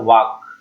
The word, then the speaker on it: walk: वाक। इसको पढ़ते हैं वाक, WALK लिखा जाता है, WALK, लेकिन पढ़ा जाता है वाक।